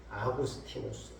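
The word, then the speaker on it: Augustinus: 고백으로 유명한 성 어거스틴 원래 발음으로 하면 아구스티누스 영어 발음으로 해서 이제 어거스틴 아구스티누스 은총과 자유와의 관계 속에서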